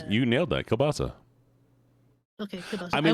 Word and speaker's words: kielbasa: How do you pronounce that? Kielbasa? How do you Yes, say that? you nailed that. Kielbasa.